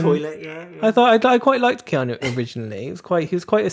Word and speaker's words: Keanu: But Keanu... Not Kenu.